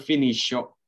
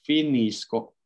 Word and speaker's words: finisco: Jadi bukan finiscio, ya, finisco. Sama halnya dengan yang terakhir ya, loro, bukan finiscono. Tapi finiscono. Itu ya, untuk bentuk io dan loro ya, pelafalannya itu C-nya kita baca seperti K.